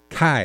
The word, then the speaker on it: Kai: Kai is his actual pronunciation of his name.